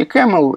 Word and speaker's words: CAML: Произносится по-английски camel, и, собственно, все эти аллюзии на верблюдов.